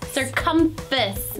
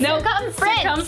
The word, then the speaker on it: circumference: You said circumference. Circumpus. It's circumference. Circumference. Sorry, Julen. You got to say it right.